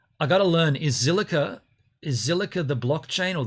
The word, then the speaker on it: Zilliqa: is in my opinion so zilliqa is how you say it so that's the blockchain